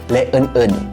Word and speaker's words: ฯลฯ: Kalau di dalam bahasa Thailand, ini dibacanya leun-eun. Leun-eun. Dan lain-lain. Sama sebenarnya, artinya tuh benar-benar direct dan lain-lain. Le artinya dan, eun itu artinya yang lainnya. Eun berarti lain-lain. Le eun dan lain-lain.